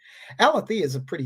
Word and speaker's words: Alethea: I've been saying Althea, but it's spelled Alethea Duncan. Alethea is a pretty name, actually.